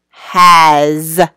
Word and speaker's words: has: And the last word is has. That also has like a Z sound at the end.